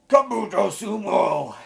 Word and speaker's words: Kabuto Sumo: Kabuto Sumo is how you properly say that title.